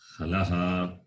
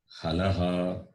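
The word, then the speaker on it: हल्: Halaha. H-A-L-A-H. Halaha. That is how you have to pronounce it. H-A-L-A-H. The last H in the halaha is H with a dot at the bottom.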